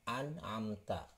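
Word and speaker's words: أنعمت: Ini akan dibaca dengan jelas ya hurufnya. Nah, ini disebut idhar, dibacanya an'amta.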